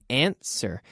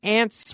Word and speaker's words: answer: up and contesta to answer get up and answer the telephone now we're not saying aunts were no no no that W is silent answer ANSWER Answer answer